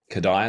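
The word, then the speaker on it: Kodály: I should say, to Kodai over here maybe 10 years ago. And I should say, for those listening, if you're not familiar with Kodai, it's spelled K-O-D-A-L-Y, Kodai, that's the guy's name.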